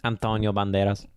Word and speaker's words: Antonio Banderas: Banderas that's how you say his name yeah Antonio Banderas anyways uh yeah like if you saw like